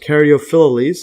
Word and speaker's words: Caryophyllales: Alright, actually I think it's pronounced Caryophyllales.